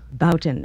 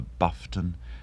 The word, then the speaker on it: Boughton: I mean, anything from Boughton to Buffton. It's quite incredible.